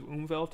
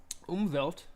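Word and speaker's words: Umwelt: may be rendered in the Canon as exclusive umelt of that specific character umelt is uh term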